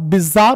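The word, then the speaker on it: bizarre: adjective not adjective नहीं होता भैया एडजेक्टिव डी साइलेंट होता है आते हैं सनम पर पहला सनम बेटा बिजार होगा बेटा क्या होगा बिजार बी आई जड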